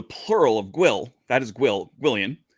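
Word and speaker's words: gwyllion: And so the plural of Gwil, that is Gwillian, which sounds like William. I don't think there's actually any reason for it other than that. And whether you pronounce the G or not, it depends on the person.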